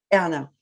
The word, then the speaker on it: Erna: Erna.